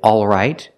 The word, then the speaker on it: all right: word has two pronunciations some people say all right and they pronounce the L all right the first vowel is the sound a a like in words call and ball the sound is back here a all right some people don't pronounce the L but they keep the same vowel a not o but a if we eliminate the L it sounds like this a all right all